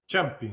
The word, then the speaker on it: Ciampi: Porque es Champi o Champi, no sé cómo lo pronuncian. Champi, sí, italiano 100%.